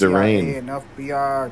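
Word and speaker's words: Darrein: It's not Darian, it's Darain.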